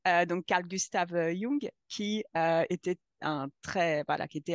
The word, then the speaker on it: Jung: dérives à partir de Jung, pardon, je vais le prononcer à l'allemande comme il faut et pas l'américaine parce que c'est pas du tout le même gars. Donc Carl Gustav Jung, qui était voilà, qui